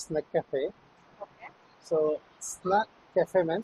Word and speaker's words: Snacafe: what is your Cafe name how is it pronounced it's snack Cafe okay so SN Cafe man SN is nothing